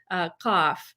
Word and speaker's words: qaf: There's one letter in the Arabic alphabet, qaf, which standardly pronounced ka, which we don't have in English, could Right. be in the Gulf Arab countries ga with like a G. But if you went to certain parts of Egypt, it's not even pronounced at all.